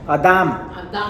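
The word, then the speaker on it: אדם: estas dos palabras hebreas mata adam con acento en la segunda adam es una palabra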